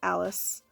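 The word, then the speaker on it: Alys: one main character girl her name is Alice they spell it a ly s which I think is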